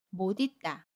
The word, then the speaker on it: 못 잊다: 그 시 이응 자리로 가서 옷 있다 라고 발음하는 방법 입니다 못 있다 두번째 경우는 뭐니 딸을 하나의 단어로 인식하는 경우